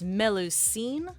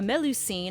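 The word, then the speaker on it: Melusine: like true names so this lancelot's true name is meloine I think is how you say it m e l u s i n e which a melu scene is also a type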